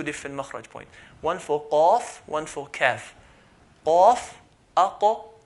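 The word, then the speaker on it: قاف: So qaf, like al-qalam, qaf is right at the back, near the throat.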